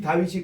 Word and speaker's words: 다윗: 우리는 이 다윗이 그대로 이 발음이거든요. 우리 따라합시다. 달레스. 와우. 달레스. 그래서 이 달레스는 이 다윗인데 이름이 디귿이고 그다음 위선 W잖아요. 그리고 IT에서 우리 다로 그대로 다윗이 정확하게 히브리 발음이에요 이게.